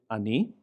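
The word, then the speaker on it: אני: So in the word I, the pronoun I, we pronounce it ani, ani, ani.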